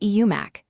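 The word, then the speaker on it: 음악: The first word is spelled emac with a matchum on the first block and a silent circle starting the second. But because of linking the M slides over and it is pronounced eumac meaning music.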